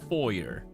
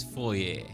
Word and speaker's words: foyer: that the English the English pronunciation is foyer. The French Canadian version is foyer. So that's why both are technically correct.